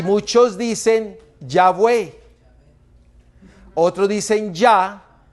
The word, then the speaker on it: Yahvé: Porque en el idioma latino, la palabra W que no se menciona. ¿Cómo nosotros lo nombramos la palabra W? La V. Yahvé.